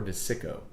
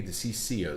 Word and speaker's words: DeCicco: DeCiso. It's either DeCiso or DeCicco. It can't be DeCicio. There's not an I. DeCicco. I'm going DeCicco. Donald R. DeCicco. Double C. I'm going hard C.